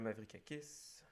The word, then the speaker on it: Mavrikakis: Puis j'ai vu la critique de Nicolas Mavrikakis, si c'est comme ça qu'on prononce son nom.